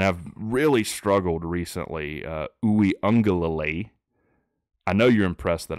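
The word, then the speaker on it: Uiagalelei: teams um and I've really struggled recently uh Unger Lily I know you're impressed that I pronounced that name correctly um like I've said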